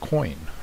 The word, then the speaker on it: quoin: walls, and that is called a coin, or it's spelled Q-U-O-I-N, and it's basically a French word that is used or means corner or angle.